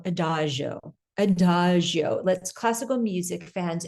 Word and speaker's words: Adagio: And I say it that way because I was saying it wrong for a while, but now I say it Adagio.